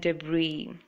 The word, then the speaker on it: debris: the S word is s letter is silent island Isle and debris i'll means a small